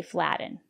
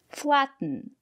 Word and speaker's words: flatten: flatten your pastry it's not correct to say flatten but the syllable after the letter T is not stressed why not because we have a special rule in English we have these words and they all contain t t n or t o n for example kitten mitten written cotton button flatten and in this case we pronounce the letter t as a stop T put your tongue up